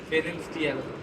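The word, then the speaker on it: Pfannenstiel: আছে, এটাকে বলা হয় ফেরেনস্টিয়াল। লেখো, বানানটা লেখো পি এফ E double N ই এন এস টি আই এ এল, ফেরেনস্টিয়াল, কিন্তু পির উচ্চারণ উচ্চ থাকবে।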